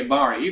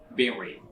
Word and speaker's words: berry: interesting interested and interest our next word is Barry is very not boring some might say bari buttocks pronounced berry the number what is geology